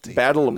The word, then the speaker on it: Badalamenti: Badalamenti, I believe okay, is the pronunciation.